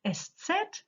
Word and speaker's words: Eszett: a bit weird maybe we call it estset but the pronunciation is very easy it's a sharp s yes okay we share